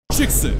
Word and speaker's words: JKSV: Chicks, that's how you say it.